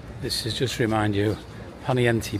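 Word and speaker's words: Poniente: is just remind you ponti Beach a lot of the British say ponai Beach for sure here they've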